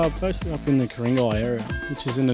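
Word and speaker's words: Ku-ring-gai: And it's come from the Ku'ringai descendants, from around this area of the North Shore area. That's not with a K, as the Europeans pronounce it, it's with a G.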